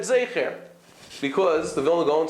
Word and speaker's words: Zecher: So they testified that he said Zecher, because the Vilna Gaon said something along the lines of Zecher, something like that. Not Zeicher, he said Zecher.